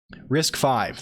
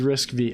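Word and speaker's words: RISC-V: got to clarify this risk five thank you there are armed laptops so I mean the the new Max our arm newtonium it's a risk five I thought it was risk V Hari Hara Hara was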